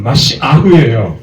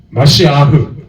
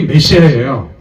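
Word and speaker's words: משיח: 제가 그 히브리어로 씁니다 따라서 합시다 마시흐 마시아 이게 메시아요 정확한 발을 마시라고 읽어야 돼요 근데 이걸 우리말 성경 메시아로 읽습니다 같은 뜻이죠 메시아 마시아 정확한 발음을 마시아 메시아요 그니까 메시아가 오실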